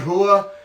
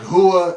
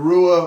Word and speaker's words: Rua: but yeah this next fight about mauricio shogun hua and yes it's spelled rua rua the in brazil they pronounce ours like mexicans pronounce jays so like hua instead of rua or like you may remember last week it